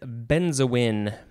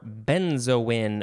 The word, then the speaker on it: benzoin: for this episode is benzoin or benzoin or benzoine many ways to pronounce it b-e-n-z-o-i-n it is a